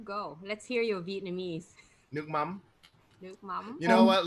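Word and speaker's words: nước mắm: Nuc mam. Nuc mam. You know what? Let if you guys are watching, let's mouth it with me. Everyone on screen too, mouth it with me. Say nuc. Nuc. Mam.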